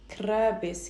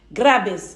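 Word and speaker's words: grapes: عنب عنب يعني ايه ك استنى كراب ايه كرابس كرابس كرابس جرابس ج جرابس كرابس جرابس جرابس جرابس جرابس جرابس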